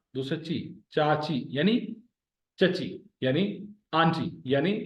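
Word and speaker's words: چاچو: रिश्तन जनाला, आज हमने पढ़ा चाचू। चाचू मीन्स चचा, अंकल। चाचो, चे और अलिफ जबर के साथ मिले हो, चे और वाव जबर के साथ मिले हो।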